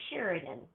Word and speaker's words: Cheridan: So it's just an instantaneous when, if somebody says it incorrectly, I will just smile and say, oh, it's actually Sheridan, and so it bothered me for many years, but I think as I've gotten older, I'm like, it's all right.